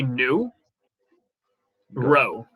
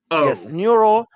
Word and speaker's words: Nuro: good okay yeah so it's two syllables so you say new row new role new role neuro met the headlines in